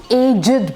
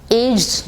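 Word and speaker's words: aged: बात करनी शुरू की, तो हम एजिड बोलेंगे। एज््ड नहीं बोलेंगे। एजिड। ओके? सो एज्ड जब भी हम जवान बच्चों की बात कर रहे हैं, हम एज्््ड बोल सकते हैं। वहां पे भी हम एजिड बोलेंगे तो गलत नहीं है।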